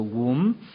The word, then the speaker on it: womb: 영어 단어가 우미라고 얘기합니다 womb b는 이제 묵음이 되죠 움 그 다음에 맨 그래서